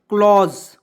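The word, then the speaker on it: close: भी नियम है देखिए सी से आधा क होता है एल ओ से ल होता है यहां पे एस का उच्चारण ज के रूप में और ई को साइलेंट रखें तो क्या पढ़ेंगे क्लॉज ठीक है यहां देखिए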